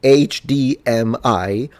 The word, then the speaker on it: HDMI: HDMI because I swear all Italians say acadm I which makes no sense whatsoever either say HDMI or a D m for some reasons the first three letters we read them in Italian but the last one